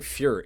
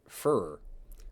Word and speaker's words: Führer: Or I keep saying Führer. It's Führer. I know how to pronounce this.